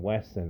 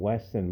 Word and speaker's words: Wesson: have always wanted a Smith and Weston I said it right the first time Smith and and Wesson model 2944 Magnum Dirty